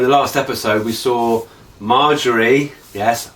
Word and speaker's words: Margaery: So in the last episode we saw Margaery, yes, Margaery, got her name right now.